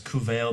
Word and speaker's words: Cumhail: So the first king of Durlan was called Cuvail. It's spelled Cumhail. His name is Cuvail, the son of Kesser.